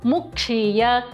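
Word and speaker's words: मुक्षीय: And last one, Mukshiya, Kshi Mahaprana. To put it all together, Tryambakaya Jamahe Sugandhim Pushtivardhanam Urvarukamiva Bandhanan Mrityor Mukshiyamamrataat.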